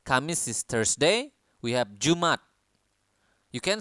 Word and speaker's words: Jumat: is Thursday we have Jumat you can say Jumat or Jumat so you can like put a apostrophe There so ya jumat This